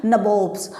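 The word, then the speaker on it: nabob: अब ये आप सोचेंगे कि नबोब्स क्या हुआ, नवाब की ही एक फॉर्म है, उसी को जिस तरीके से उनका प्रोनाउंसिएशन रहता था तो वो नवाब नहीं बोल पाते थे, नबोब बोलते थे, तो वो अपने आप को नबोब बोलने लगे।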